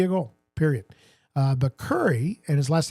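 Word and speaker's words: Kurri: And the answer is Yari Curry uh who has 106 goals in the playoffs.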